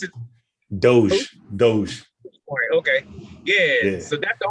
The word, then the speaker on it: Doge: How you pronounce it? Doge.